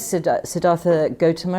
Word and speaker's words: Siddhartha Gautama: Am I right in calling him Siddhartha Gautama, or is there a better way to pronounce it? You could call him, yes, Siddhartha Gautama is fine.